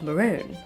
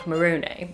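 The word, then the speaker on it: Morrone: cave located near Mount Maron or Mount Marone I've heard it pronounced different ways but also absolute goals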